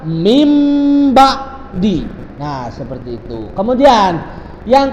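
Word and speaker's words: من بعد: Contohnya min ba'di. Cara membacanya adalah mim ba'di.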